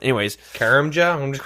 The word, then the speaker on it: Karamja: I think it's pronounced Cramia. I heard that really." Anyway, yeah, the J is silent. Anyways, Karamja, I'm just call Let's